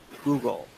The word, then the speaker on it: googol: Which is spelled Googol, Google, and that's that I'm pretty sure that is now sort of an accepted mathematical term, right?